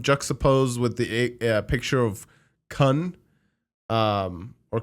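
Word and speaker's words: Khun: I think especially now that they showed him juxtaposed with the picture of Kun, or Khan, how do we say his name? Kun, yeah.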